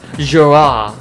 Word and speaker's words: Girard: I assume it because it's French, it's pronounced Girard.